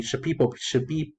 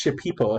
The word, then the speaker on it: Shipibo: supplies, sustenance for the Shipibo. I keep on trying to pronounce this Shipibo as in ship, but it's Shipibo, the Shipibo people.